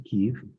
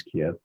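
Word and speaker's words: Kyiv: all things and then went back to Kev, which most people pronounce Kiev and had some time and I thought, let's see if I can get to Chernobyl.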